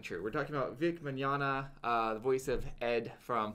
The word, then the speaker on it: Mignogna: And if you were offended by Vic Mignogna, Vic Mignogna. Vic Tomorrow. Not spelled that way. It's spelled more like Italian-y. It has silent G's in it.